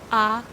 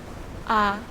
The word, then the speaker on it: à: À tous. À tous. When you pronounce the A sound, you breathe out and you actually can see your tongue laying on your lower teeth.